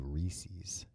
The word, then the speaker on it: Reese's: What do you think about these people that say Reese's? They're the worst. Right? Yeah. It's not spelled like feces. And it's supposed to rhyme with pieces.